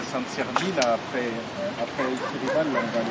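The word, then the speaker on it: Aixirivall: celle-ci, donc Sampere d'Aix-et-Rival, ça se prononce Aix-et-Rival, voilà.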